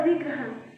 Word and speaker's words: अधिग्रहण: आज का शब्द है अधिग्रहण। इसका अर्थ है अधिकार द्वारा ले लेना। इसका उच्चारण है अ, ध में छोटी ई की मात्रा, ग में र की मात्रा, हाँ ण।